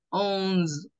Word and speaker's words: onze: Mira que se escribe prácticamente parecido a español, pero se pronuncia con la z, onz. Onze.